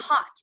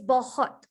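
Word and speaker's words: बहुत: like the thing is it's not hot it's bohot well maybe hot like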